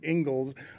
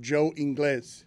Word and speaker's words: Ingles: I do pronounce his name wrong all the time because it's Spanish for English, and I don't pronounce it Ingles. I just pronounce it Joe Inglés.